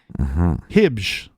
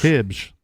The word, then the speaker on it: Hibbs: Hibbs. I'll try that. Hibbs. I looked it up, and that's how they told me to say that last name.